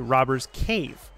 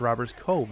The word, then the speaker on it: Robbers Cave: of play in OKC robbers cave not robbers Cove as I so eloquently mispronounced earlier and chat let